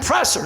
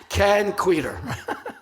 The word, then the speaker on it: Kenn Kweder: Ken quer she goes what's your nobody can pronounce thing can can presser no Ken quer so um she goes back never comes back